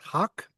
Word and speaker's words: Haq: And one of them is, forgive my pronunciation, please correct it, Haq. Yes, you're absolutely right. This is how it's pronounced.